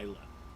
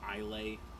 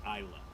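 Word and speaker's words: Islay: favorite regions of scotland is uh isla yep a lot of people say i lay yeah is slay it's isla yeah just fyi but um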